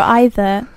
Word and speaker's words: either: either you can say either or either or either but yeah I